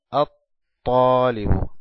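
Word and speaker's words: الطالب: Talibun, le agregamos el artículo, Alef Lam, es igual a At-Talibu, At-Talibu, At-Talib. No pronunciamos el Lam del artículo, pero sí lo escribimos.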